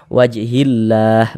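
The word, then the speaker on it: وجه الله: ini dibaca Dibaca idgham jadi cara membacanya itu dari HI langsung masuk ke huruf lam yang ada tanda bacanya ini wajhillah begitu Jadi jangan bingung ya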